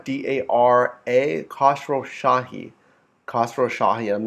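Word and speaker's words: Khosrowshahi: name to remember guys Dara d-a-r-a Castro Shahi khasrow Shahi and I'm not going to spell that former Expedia CEO um yeah and here's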